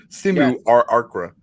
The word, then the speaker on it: simulacra: Do I pronounce this L or is it simulacra? Simulacra. No, you say those L's.